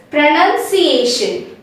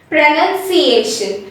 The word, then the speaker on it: pronunciation: we come to pronunciation since we don't have a o after n we say it as pronunciation and near p r